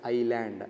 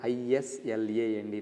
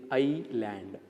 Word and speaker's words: island: is land it is i land yes become silent here okay yes it becomes silent so that is why we need to pronounce it as i land island so there are approximately